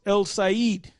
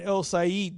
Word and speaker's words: El Cid: And I think it's pronounced El Said, which means the Lord.